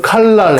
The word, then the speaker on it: 칼날: 예를 들어서 칼날 해볼까요? 리을하고 니은이 만났어요. 날. 이거 발음 어려워요. 날. 리을하고 니은이 만나면 무조건 리을로 발음하라. 이게 유음화입니다. 아주 간단합니다. 그래서 발음 어떻게 하라고요? 이거를 니은을 리을로 발음하라.